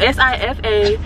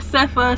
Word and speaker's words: Sifa: Spelled S-I-F-A. Pronounced Sifa, not Sefa, Sophia, Sofa. Definitely not Sofa. So don't call me Sofa. Call me Sifa.